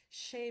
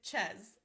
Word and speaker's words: chez: We would spell it S-H-A-Y instead of the French spelling, which is C-H-E-Z, because I want to make sure that nobody accidentally pronounces it ches.